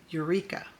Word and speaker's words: Eureka: But you have to be careful if there's an R in the word, like in the word Eureka. The bossy R. Do you remember that video, bossy R? Well, if not, I'll put it in the description box below. But bossy R changes that U to Eureka, Eureka. That R is a lot stronger, and U turns into your.